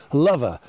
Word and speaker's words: Lover: called now get this lover l.o.v.e are technically pronounced all over but at this time of the year when Valentine is absolutely swinging we call it lover and you'll see that